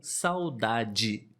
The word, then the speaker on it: saudade: exemplo em liberdade ou saudade nós falamos assim de forma natural saudade liberdade mas na verdade se escreve